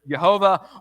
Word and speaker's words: Jehovah: And God responds to him with these very famous words that we now write out as YHYH, that we pronounce either Jehovah or Yahweh, right?